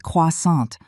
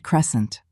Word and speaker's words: croissant: It's pronounced croissant, not crescent."